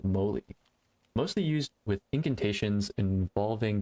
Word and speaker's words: Moly: Molly. Moly? I think they pronounced it Moly.